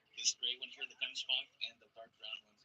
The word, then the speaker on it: gemsbok: But across the way there, the gemsbok, the one with the gray and white with the really long horns. Their name can also be pronounced gemsbok, comes from the Dutch, and they are also